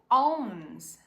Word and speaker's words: owns: The king will ask who owns this land. Onde posse. A gente começa com som de o, sobe para um som de u e fecha no n.